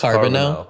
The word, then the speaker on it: Carboneau: little confused by it it's carbon now so I was right